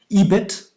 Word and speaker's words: EBIT: And so some of them, like you said, were EBIT, as it's usually pronounced, right?